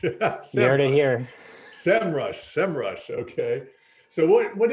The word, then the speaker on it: SEMrush: People ask all the time, and the founders were like, Sem Rush. Sem Rush. That's it. The Lord of the land came down and said, that's how you say it. Okay. Well, I will now try to remember that it's Sem Rush.